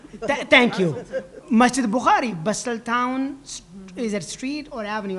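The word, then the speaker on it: Bustleton: Basel town. Thank you. Masjid Bkari Bustel town is it street or avenue?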